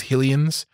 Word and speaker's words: Hylian: of people pronounce like some people pronounce them as helium's I always pronounce them as hylians because it's like to me that was Hyrule you know I mean